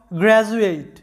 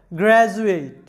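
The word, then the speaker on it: graduate: আছে ইউ, যার কারণে ডি এর উচ্চারণটা হবে জ এর মতো, গ্র্যাজুয়েট।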